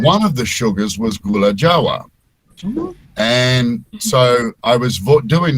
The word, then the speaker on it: Gula Jawa: voiceover, and back then I had no idea how to pronounce Indonesian words. So I was calling Jogja, I was calling Yogyakarta, and I was calling the sugar was Gula Java, and Gula Java.